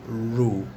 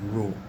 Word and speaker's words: rho: a symbol for density it is called rule it's a greek letter and that is the sound that's the how you pronounce the word rho for this particular symbol